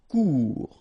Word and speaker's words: court: Final T not pronounced. Court.